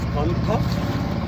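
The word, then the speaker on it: Cần Thơ: and on Mekong River in Mekong Delta near Kantho, spelled as Kantho but pronounced as Kantho.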